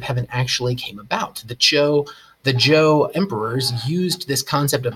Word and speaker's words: Zhou: That's how you pronounce that, Zhou, like a J. The Zhou dynasty, which was similarly decentralized.